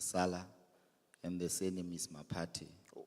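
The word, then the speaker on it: Maphathe: Um like you said my name is Mala and the surname is Mati. Oh Mati Mati. Yes. Okay. But it's spelled MP or M A.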